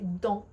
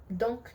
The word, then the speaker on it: donc: So you can say donc. We don't really pronounce last letters in French, but sometimes you'll kind of, there's some words that are going to be exceptions. You can just use it donc and then comma and then whatever.